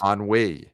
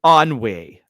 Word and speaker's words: Ennui: handle anxiety embarrassment envy and how do you pronounce this on we on Wei okay okay those letters and you didn't know